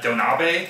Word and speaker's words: donabe: This recipe is inspired by Donabe cooking, I believe is how you say it.